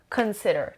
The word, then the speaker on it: consider: sixth word consider consider consider that money can involve so this shorter and consider consider three syllables and the stress is on the second level consider means to think